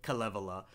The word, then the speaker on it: Kalevala: Now, I've also heard this pronounced Kalevala, which is how I used to pronounce it, but I've heard Finns more frequently pronounce it Kalevala. So I'm going with Kalevala.